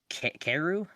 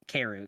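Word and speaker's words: kaeru: her her tag is frogs in japanese uh keru i'm sorry if i'm not pronouncing that wrong lexi but it's it's keru k-a-e-r-u um she has been running events in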